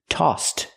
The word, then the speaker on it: tossed: So we use the t sound for the ed. Tossed.